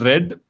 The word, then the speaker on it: read: these are right yeah this is not read this is red past tense of read is red which is the same pronunciation same spelling also so you can either